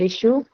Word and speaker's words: issue: For issue, you will just mark on the first syllable.